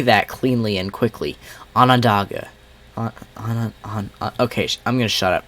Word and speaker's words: Onondaga: County in north central New York, and northwestern Onondaga. Onondaga. How do you say that cleanly and quickly? Onondaga.